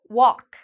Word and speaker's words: walk: Okay, we have the A. So this means the L is silent. Walk.